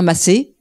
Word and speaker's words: Macey: Ce soir, j'ai la chance de vous présenter notre fellow qui s'appelle Macy. Il a dit qu'en français, on peut dire Massé.